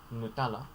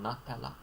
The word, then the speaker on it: Nutella: haagen-dazs um there is nutella you could say nutella with this take note of the nutella rather than nutella um although if you want to go for a little more original italian pronunciation nutella the common anglicized